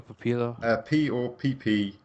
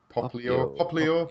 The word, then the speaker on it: Popplio: how do you spell Papilo? Popplio.